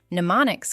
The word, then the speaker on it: mnemonic: Mnemonics can use acronyms, rhymes, imagery, songs, or meaningful associations. They support memory, but they do not replace understanding. Also, the first M in mnemonic is silent.